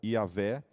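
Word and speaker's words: Yahweh: o tetragrama né que a gente tenta pronunciar como yaveh mas conforme a maior parte dos teólogos falam é o nome de Deus esse tetragrama ele ele é impronunciável a pronúncia dele se perdeu na história devido aos extremos zelo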